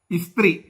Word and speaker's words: Eastre: ഇസ്ത്രീ ഉച്ചാരണം, പക്ഷെ spelling EASTRE, ഇസ്ത്രീ എന്നാണ് ഉച്ചരിക്കുക.